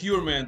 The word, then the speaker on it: Heuermann: if I'm not pronounced I think that's heran the right pronunciation of this Rex heran he he your man